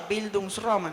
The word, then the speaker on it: bildungsroman: y mudanzas son novelas de aprendizaje la famosa bildungsroman así se pronuncia abismos román la gente que estudia letras